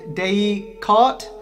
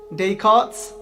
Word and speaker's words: Descartes: name up but i won't be able to pronounce it so he's gonna try and help me out here so i think it's dey cart descartes there we go um there we go yes